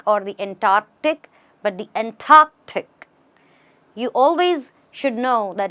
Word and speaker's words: Antarctic: in the Antarctic or the Antarctic but the Antarctic you always should know that in English pronunciation the T or the P or the